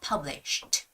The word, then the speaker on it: published: author and as always when a word ends with it it's sh you know and it's connected with Ed the ed sound is shortened to T sound so it's more like published published published published okay